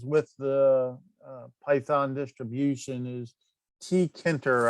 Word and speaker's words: Tkinter: the python distribution is t kenter i think that's how you pronounce it t e t-k-i-n-t-e-r um it's been around